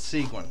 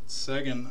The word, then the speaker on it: Seguin: what a beautiful piece no it's seguin you're wrong he typed second before you said it that's that's a beautiful jersey man it's not the first one i pronounced wrong we know that i don't know how you get sagging out of that last name on the signature though but it's his